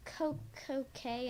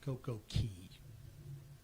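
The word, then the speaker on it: Coco Cay: Probably Coco K in the Bahamas. All right. Cruise Insider. It's Coco Key. They spell it C A Y, but it's pronounced key.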